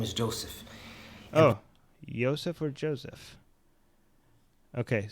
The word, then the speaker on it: Yusuf: The Arabic version of it is correct. Yusuf.